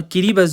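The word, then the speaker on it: Kiribati: इसे किरीबस प्रोनाउंस करते हैं।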